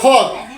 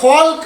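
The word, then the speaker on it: folk: আমরা এখানে ফক, এই FOL কে ফক, এ ফল্ক না বলে ফক কেন বললাম, কে বলতে পারবেন?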